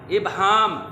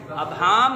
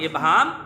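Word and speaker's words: ابہام: इबहाम। अबहाम गलत है। अलफ की ज़बर के साथ अबहाम गलत, अलफ की ज़ेर के साथ इबहाम दुरुस्त है।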